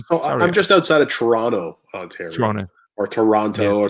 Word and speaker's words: Toronto: i'm just outside of toronto ontario toronto or toronto or toronto people say that they don't announce that um say that pronounce that last t is toronto that's that's how the